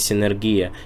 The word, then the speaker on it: Синергия: внимание на это обратили это слово Синергия Да звучит вроде как энергия есть слово да и Синергия звучит для многих привычнее но на самом деле правильно говорить Синергия и ставить ударение именно на последний слог и слово Мидас медас